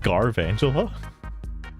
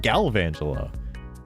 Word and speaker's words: Galvantula: Also, um, I always said Garangela. On further inspection, there is no R in the name. I I thought it was garangela. Why is it galvangela?